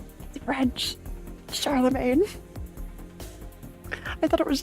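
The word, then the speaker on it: Charlemagne: was R it's not rendes it's Rondevu French Charlamagne I thought it was charl Magny Charlamagne in your country he's called Carol the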